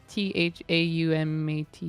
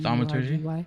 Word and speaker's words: thaumaturgy: So if I do that and then I cast, I can't pronounce this one. It's THAUMATY. Thaumaturgy?